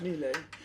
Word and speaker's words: Miele: Is that how you pronounce it, Charles? Miele. We're made by Miele. Miele A.